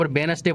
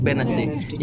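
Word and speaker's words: Wednesday: है जो पढ़त नहीं जैसे अप वेडनेसडे पढ़त का पढ़ वेनसडे ये डी साइलेंट ठीक है जैसे कि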